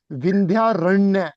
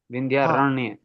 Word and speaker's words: विंध्यारण्य: विंध्यारण्य कहा जाएगा इसको। सही। हाँ, विंध्यारण्य। अरण्य, आधी मुझे लगता है जो उर्दू मीडियम से होते हैं उनको आधा प्रोनाउंस करने में दिक्कत आती है जरा।